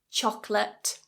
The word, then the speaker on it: chocolate: or comfortable number three chocolate two syllables not chocolate chocolate two syllables in English and that second syllable is an uh it's a schwa chocolate now we're moving